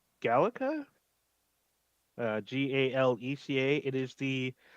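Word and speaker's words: GALECA: uh also in 2021 he received I believe this is pronounced at gallica uh g-a-l-e-c-a it is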